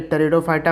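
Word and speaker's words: Pteridophyta: ये याद रखिएगा, ये टेरिडोफाइटा, पी से इसका स्पेलिंग स्टार्ट होता है।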